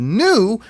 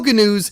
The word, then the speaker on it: gnu: And so he created a character named Gary Gnu, where he would needlessly add the non-silent G in front of every N, and this led to his catchphrase, "No GNUs is good GNUs" with Gary Gnu.